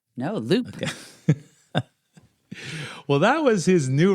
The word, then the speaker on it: WLUP: So, Dahl's radio station WLUP in Chicago And by the way, that's pronounced the Loop. The Loop, not Lup? No, Loop.